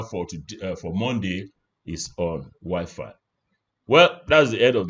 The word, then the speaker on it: Wi-Fi: What is wiffy? Sorry. What is Wi-Fi? I'm not joking. Wiffy, the franophone environment, they call it Wiffy.